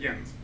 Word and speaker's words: Jens: That's a Danish name. In Denmark, they pronounce it Jens. I can only assume that is the correct way to pronounce it, which means my parents named me incorrectly.